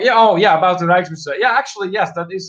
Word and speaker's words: Rijksmuseum: So, oh, we're on to Dutch pronunciations now. Rijksmuseum, that's how you pronounce that.